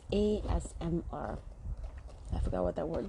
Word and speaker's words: ASMR: It's like Esmera. Esmera? Okay, it's ASMR.